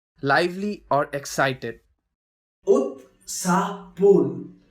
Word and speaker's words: उत्साहपूर्ण: Utsaapurn, lively or excited. Utsapurn, which is pronounced as Utsapurn, which means very excited, very lively.